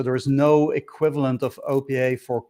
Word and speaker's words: OPA: opa is um or i don't know how you pronounce it it's the opa or is it over according to the docs is oppa yeah oppa so that